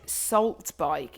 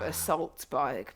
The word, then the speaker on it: assault bike: Like, he said salt bike instead of assault bike.